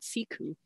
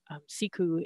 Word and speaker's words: siku: announcement of a social media sharing platform called siku which is now it's publicly available and something that you can just google and look up so siku is the inducted word for sea ice and